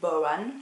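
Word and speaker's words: bodhrán: Pas de tambour, mais ce qu'on appelle le bodhran, qui s'écrit baudran, mais qui se dit bodhran.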